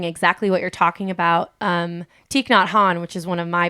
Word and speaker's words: Thich Nhat Hanh: it's pronounced Thich Nhat Hanh.